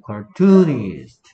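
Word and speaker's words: cartoonist: 뭐 카투니스트 뭐 카툰에 대해서 얘기할 것 같으면 얘 강세가 어디에 있다? 이음절에 있다라는 거 정도. 카투니스트가 아니고 카투니스트. 카툰 이렇게 발음한다는 거.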